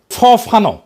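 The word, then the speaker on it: Fanon: ফরাসি আলজেরিয়ান চিন্তাবিদ ফানো ফানো নাম আসল উচ্চারণটা উনি বলছিলেন পরাধীন জাতিগোষ্ঠী লড়াইয়ের ভিতর দিয়ে নিজেকে চিনতে শেখে।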